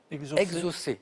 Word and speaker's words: exocet: assure ses nageoires pectorales alors je crois qu'on prononce exaucé autant pour moi il ya bien le thé à la fin mai que normalement on ne prononce pas exaucé il faudrait que